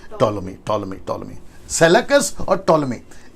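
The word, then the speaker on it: Ptolemy: दरअसल सेलेकस और टोलोमी, right pronunciation, टोलोमी, सेलेकस और टोलोमी के बीच में यरूशलेम है।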